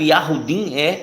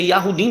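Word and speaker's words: יהודים: Em hebraico, Yahudim a pronúncia é Yahudim mesmo, né? É Yahudim mesmo, Yahudim. Yahudim. Então, em hebraico é isso mesmo. A fala, né, do Nordeste, ela conserva muitas palavras do hebraico.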